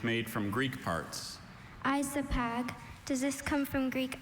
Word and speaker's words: isopag: Isopag.